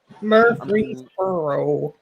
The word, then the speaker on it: Murfreesboro: What I are mean, these it's that second R that's confusing. It in like the free parts because it's usually like Murphy, Yeah, it's not Murphy. Mur and then free. Yeah. Murfreesboro.